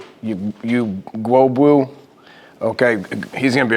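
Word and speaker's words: Ugwoegbu: You know, defensively, you know, David, Dora, how do you pronounce his last name? Gwobu.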